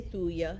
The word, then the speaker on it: thuja: careful, and that is thuja. These are all oils we have right on the website. But thuja, Thuja. Some people say thuya, so I might be not saying it right, thuja.